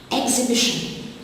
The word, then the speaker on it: exhibition: Exhibition, the silent letter is the H after the X.